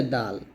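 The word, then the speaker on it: دال: তারপর হচ্ছে দাল। দাল হবে জিব্বার আগা সামনের উপরে দুই দাতের গোড়া সংখ্যা লাগিয়ে দালটা আমরা পাতলা করে উচ্চারণ করব এবং চার আলিফ টান দিব।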